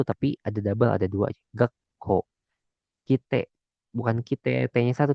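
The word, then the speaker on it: がっこう: Jadi kalau misalkan ada sekuan di sini, dibacanya bukan gako. Jadi dibacanya tuh ada penekanannya gitu. Jadi gakko, gakko.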